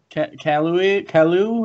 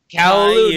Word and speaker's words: Caillou: Kalu or whatever? Oh, Caillou.